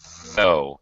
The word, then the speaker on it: though: actually you're hardly alone it's a voice th and it's just though so it's though though that's it you got